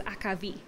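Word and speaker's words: akvavit: ale, or is it akavit? It's pronounced several different ways, but I know that in Norwegian and many Scandinavian languages, it's akavit.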